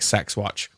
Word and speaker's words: CeX: like it's called like sexat is brilliant um we should point out that's how you're meant to officially pronounce c ex sex no one calls you that in the UK where people point out